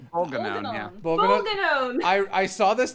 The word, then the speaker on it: Bolganone: Ooh, Boggle Nun, which is not how that's pronounced, but it is how I will say it. Boggle Nun. How do you guys say this? Because I saw this name. Bolganone, yeah.